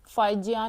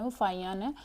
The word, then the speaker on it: फाहियान: और ये रिकॉर्ड तो फाहियान का था, फाइजियान नहीं पढ़ा जाता, इसकी जो प्रोनाउंसिएशन है वो फाहियान है।